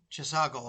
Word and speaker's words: Chisago: of, I don't know if I'm going to pronounce this correctly, you probably know it better, but The Chisago. Chisago, okay, thank you.